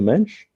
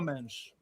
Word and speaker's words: Mendes: Well, how do you say it? Nuno Mensch? Mensch? Nuno Mendes. Okay, like Mendes. SCH. Mendes, Mendes. or whatever they say in Portugal.